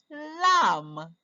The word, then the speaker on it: lamb: read now um pam oh oh the bee is silent we don't hear a song lamb let's read it all